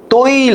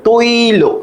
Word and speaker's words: তৈল: দেখো, তৈল, তৈল উচ্চারণটা আমি করে দিলাম তোমাদের, তৈল। হ্যাঁ, তৈল। প্রথমত মনে রাখবা, এই ওইটাকে ভাঙালে আমরা পাবো ও, সরি, আমরা পাবো হচ্ছে ও যোগ ই, ও যোগ ই, তাই না?